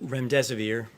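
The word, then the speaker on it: remdesivir: you so much I wanted to ask out rent rent severe if I pronounced that correctly can you tell saves it currently approved for use on the virus so REM des aveer and it's a drug made by Gilead that's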